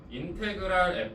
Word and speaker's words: 인테그랄: 어, 한글로 읽을 때는 한글이 아니죠. 인테그랄이라고 읽으시면 됩니다. 그래서 요걸 읽을 때 인테그랄 fx dx라고 얘기를 할 거예요.